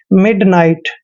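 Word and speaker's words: midnight: हैं दोस्तों नाई और टी से पहले जब भी जी एच आता है तो जी एच हमेशा वहां पर साइलेंट होते हैं इसलिए जी एच को हमने नहीं पढ़ना है और टी को ट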